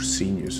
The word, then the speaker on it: Cygnus: Or Sinus, how do you say it?